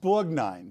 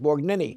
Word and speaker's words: Borgnine: I said, here's Ernest Borgnini. Right. You can't pronounce Italian names.